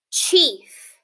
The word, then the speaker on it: chief: Chief. Okay? Let's sound out that word. Ch-e-f. Chief.